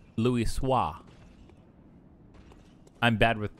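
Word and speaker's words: Choisy: that's the gate no it's swasi cuz it's like Louis swah I'm bad with pronunciation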